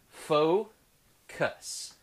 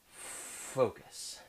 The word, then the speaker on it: FoKoos: a company called focus yes this is pronounced faux cuss focus and it's the focus